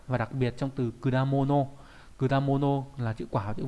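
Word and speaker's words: 果物: là thành quả và đặc biệt trong từ kudamono. Kudamono là chữ quả, chữ vật nghĩa là hoa quả. Đấy. Nó đọc là kuda, bình thường mình không thấy nó đọc là kuda đúng không?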